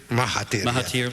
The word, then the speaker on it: Mahathir: Is it Dr. Mahathir? Mahathir. Yeah. Left out a vowel, but all right.